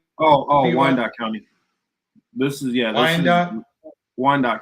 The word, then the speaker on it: Wyandotte: Wyandotte County.